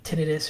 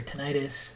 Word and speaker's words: tinnitus: So ringing in the ear is basically tinnitus or tinnitus, however you want to pronounce it.